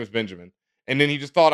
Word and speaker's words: Benjamin: DJ Ben Hamin um his last name is not so all one word it's just Benjamin in Spanish it's Benjamin phonetically Ben for those who didn't